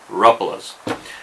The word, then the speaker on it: Rapala: going to try anyways try to remember to pronounce it Ruffalo and you know another